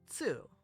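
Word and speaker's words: つ: Here we have tsu, like tsunami, but in English you would pronounce it tsunami.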